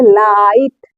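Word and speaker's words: light: करके पढ़ेंगे पहली बात दूसरी बात जो है जो जीएसटी है उसमें जो जी एच है हमेशा साइलेंट होता है इसी टी का उच्चारण किया जाता है देखिए जैसे एल आई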